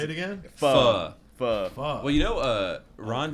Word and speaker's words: pho: You know, it's becoming such a Pho mainstream 24.